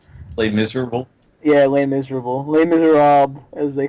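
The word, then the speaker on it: Les Misérables: Les No, it's actually Les Miserables. Shut the fuck up! I'm sorry. I asked my French friend on this. He said, oh, oui, it is Les Miserables, white flag, oh, baguette.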